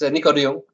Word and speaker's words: Nico de Jong: With me today, I've got Nico de Jong from LiveTiles. Yes. And Nico, tell us a little bit about yourself. Well, not badly pronounced, Dan. It's Nico de Jong.